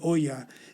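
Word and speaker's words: olla: that's where he cooks the latin word for pot is ola which pronounced differently oya is the spanish word for a pot today number 14 the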